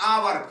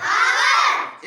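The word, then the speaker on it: hour: लिख रहा है हावर इसको जैसे शुद्ध बोले वर्णमाला के हिसाब से तो ये हावर है क्या है हावर लेकिन इसका इंग्लिश में शुद्ध उच्चारण है आवर इसका इंग्लिश में शुद्ध उच्चारण क्या है आवर तो आवर में जैसे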